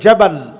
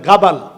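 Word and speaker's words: جبل: মরুময় জায়গা, ওই জায়গাটাকে আরাবিয়ানরা বলে জাবাল, জাবালি। জিমকে অনেক জায়গায় গাইনের মতো উচ্চারণ করে বলে গাবাল।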